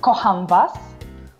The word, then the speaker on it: Kocham was: So, can you say Kocham was?